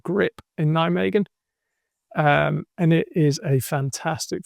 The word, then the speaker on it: Nijmegen: Will you use adjustable walls like last week in grip Nijmegen? No, Sorry, is that terrible? no, I had to ask a few times. Apparently it's pronounced Nijmegen. Nijmegen.